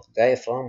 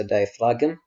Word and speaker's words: diaphragm: أول مرة خلونا نفك، راح أحرف diaphragm وتلفظ diaphragm وليس diaphragm، أوكي add كم طابق